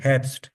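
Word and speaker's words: Herbst: हम they are हब्स हब्स नहीं हैप्स हैप्स हैप्स द मोनाटी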